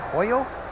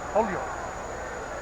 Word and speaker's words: Holyoke: located western mass yeah what do you guys say hoyo holyoke you gotta say it like you're in a hurry you guys talk funny